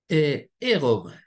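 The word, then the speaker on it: ערום: Et le mot nu, c'est au pluriel, arumim, au singulier, c'est érom. Et ça s'écrit exactement de la même manière que aoum. Oui, c'est juste la vocalisation qui est différente.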